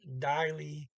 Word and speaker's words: deilig: Pizza and ser deilig ut. And they got an IG, by the way, at the end of deilig. And usually don't pronounce those G's.